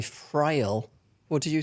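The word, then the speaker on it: Friel: I taught me about lesbians oh yeah Anna frail oh yeah first lesbian kiss or fril what are you going with there I I'd I'd say fril what did you say from gold she's in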